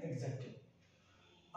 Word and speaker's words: adjective: पूछ सकता है कि ए डी जे ई चार में से कौन सा वर्ड साइलेंट है, कौन सा वर्ड, सॉरी कौन सा लेटर म्यूट है, नॉट वर्ड, तो आपको किसको लगाना है, डी को, क्योंकि हम क्या बोलते हैं इसे एग्जेक्टिव।